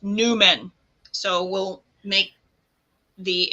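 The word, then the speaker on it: númen: West, it looks like an M with extra curl, and it's pronounced Numen. So we'll make the M, and we'll hold our hand in Fear Not Mudra, and we'll intone Numen now. Numen.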